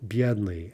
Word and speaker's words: бедный: Бедный, adjective, stress on the first syllable.